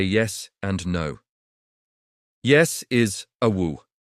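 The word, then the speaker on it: aoo': Yes is awu. It's pronounced awo, with a little glottal stop at the end.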